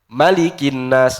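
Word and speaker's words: مَلِكِ النَّاسِ: Di annas wajib pendek. Qul azubirabbinas. Gimana bacanya? Malikinnas. Enggak boleh panjang. Malikinnas enggak boleh. Karena dia wajib panjang eh wajib pendek. Malikinas.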